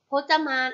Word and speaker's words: พจมาน: คน จะ มา ค่ะ พจมาน อ่าน ว่า พจน์ จะ มา พบ จะ มา ประกอบ